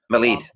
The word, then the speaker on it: Milad: Milad, okay. Milad.